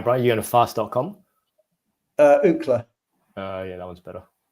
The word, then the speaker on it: Ookla: Ookla. Yeah, that one's better. How do you say that? How do you spell that?